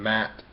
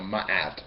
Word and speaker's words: Ma'at: If you understand mat, or ma'at, depending how you want to pronounce it, whatever you need to